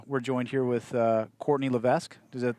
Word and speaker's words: LeVesque: Eugene, Oregon, and we're joined here with Courtney LeVesque. Is that how you pronounce That's her it, last name?